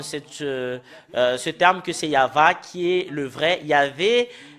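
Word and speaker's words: יהוה: euh euh confirme cette ce terme que c'est yava qui est le vrai Yav n'est pas dans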